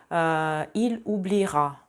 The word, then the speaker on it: il oubliera: Если у глагола первой группы в предпоследнем слоге есть гласный, например, continuer, либо étudier, oublier, то в будущем времени не звучит никак. J'étudierai, je continuerai, il oubliera. Только так. То есть это вообще в произношении отсутствует.